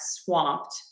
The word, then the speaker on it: swamped: No, we do pronounce the W in that, swamped. T for that ED.